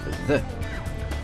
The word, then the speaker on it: the: L'article la ou le se dit the. The. Ça s'écrit T-H-E. Le TH, ça se prononce the. The. Avec la langue entre les dents.